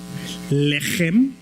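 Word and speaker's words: לחם: Si nunca ha escupido no va a poder pronunciar eso. Lehem.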